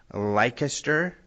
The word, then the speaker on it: Leicester: And this is near Leicester, I believe is how it's said, in the